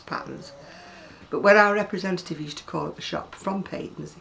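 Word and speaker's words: Patons: It's a Peyton's book, or I pronounce it Peyton's, by the way. I know people are a bit confused as to whether it's patterns.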